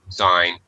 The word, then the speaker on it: sign: word in English because when it's sign the G is silent sign when it's in other